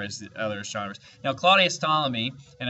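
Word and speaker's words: Ptolemy: Now, Claudius Stalamy, and I know there's a P there, but you don't pronounce the P. It's silent. Claudius Tommy was the most famous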